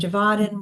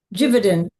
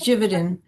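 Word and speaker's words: Givaudan: So you've probably heard of simise and IFFF and Fermanich and Javadin which I learned today is pronounced um how's it pronounced? Like gainic. No, I had it written down, too. Jividan.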